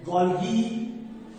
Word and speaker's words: Golgi: Latin का pronunciation अलग होता है, ब्रिटिश का प्रोनाउंसिएशन कुछ अलग होता है। और इसको कुछ कुछ साइंटिस्ट लोग गोल्गी बॉडीज बोलते हैं, गोल्गी बॉडी, या हम लोग गोल्जी एपरेटस भी बोलते हैं।